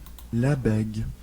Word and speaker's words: Lebesgue: Uma curiosidade que coloquei na pronúncia em francês do nome. Lebesgue.